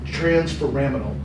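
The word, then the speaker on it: transforaminal: um trans framinal right is is the right thing uh right way to say it but I want you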